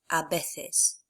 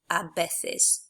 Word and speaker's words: a veces: hugely improve, is that a V is pronounced the same as the letter B. So the word sometimes is pronounced a veces, not a veces.